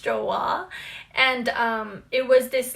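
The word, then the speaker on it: Joie: this brand and that is i used to pronounce it joey but i guess it's pronounced joa and um it was this lace top that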